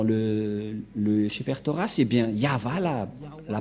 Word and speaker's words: Yahvah: le cheftoras et bien yava la la prononciation et on va prendre en photo car certains aussi disent que que c'est yawa mais pas yava et c'est encore une